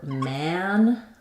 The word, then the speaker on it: man: For man, it's more open. Man, the front of my tongue is going to be all the way down, the back of my tongue is going to be all the way lifted.